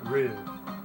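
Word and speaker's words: Rui: Oh yeah, her name is spelled R-U-I. Rue.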